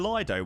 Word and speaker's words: Lido: Actually, it's pronounced Leo. It's spelled L I D O. It's Lido.